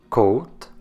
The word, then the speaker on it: côte: C notez aussi que quand il n'y a pas d'accent sur le E à la fin d'un mot on ne le prononce pas mais le E accenté du est prononcé notez la différence côte côté faites attention au